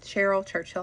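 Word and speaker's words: Caryl Churchill: A big face behind feminist theater is going to be Carolyn, however you pronounce it, Churchill. Cheryl Churchill, I believe.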